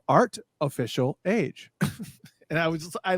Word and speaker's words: Art Official Age: posted that show that was like oh it's artificial got it i mean but okay so let's